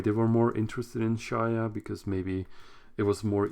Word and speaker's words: Shaiya: gonna spell it out like SHAIYA, which is like Shia, which is basically what I said before, right? There might have been multiple reasons why they were more interested in Shia, because maybe it was